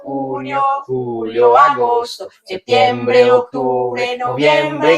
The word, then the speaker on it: junio: Junio y Julio, June and July. So June and July, you're gonna change the J with an H, so you have the correct pronunciation in Spanish.